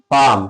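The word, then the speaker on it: palm: जैसे पाम क्या है? पाम की spelling P ए एल एम। है ना? एम से पहले क्या आ गया? एल आ गया। तो इसमें एल क्या रहेगा? इसका साइलेंट रहेगा।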